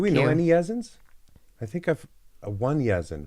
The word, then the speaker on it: Yazin: And my baby, that's Yazin. Yazin. Yazin. I like that name. That's the baby. Do we Thank know you. any Yazins?